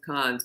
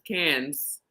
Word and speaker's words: Cannes: Millennium as I go I always thought it was cons but it's cans it's cans it is cans um I had a